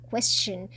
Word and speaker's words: question: e s t i o n นะ คะ question เรา ต้อง ออก เสียง เะ เข้า ไป ด้วย